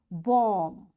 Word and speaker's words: bomb: That's why this B is coming after M, this B will be silent. We will say comb, tomb, bomb, thumb, climb, and lamb. In all these words, you can see B is silent. Why? Because before B, there is M. So this M is making this B silent, and we don't pronounce it.